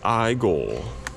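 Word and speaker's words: Igor: wolfman figure that's awesome it's pronounced i goal from young frankenstein but there's reagan from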